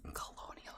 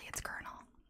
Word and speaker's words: Colonel: There's Colonel. It's Colonel. I think Colonial is kind of good.